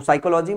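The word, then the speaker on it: psychology: यहां पे P silent रहता है। तो साइकोलॉजी मनोविज्ञान होता है।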